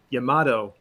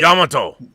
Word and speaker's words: Yamato: you say space battleship yamato in japan they pronounce it yamato yamato yamato people always correcting me